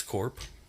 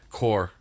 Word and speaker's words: Corp: It's from the 48 North Cannabis Corp. Or, sorry, Core. The P is silent.